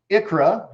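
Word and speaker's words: ICHRA: Tell me if you can't see my screen, but an Icra. It is pronounced Icra, however it's spelled, I-C-H-R-A.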